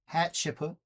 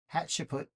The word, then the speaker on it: Hatshepsut: Hatshepsut. Hatshepsut.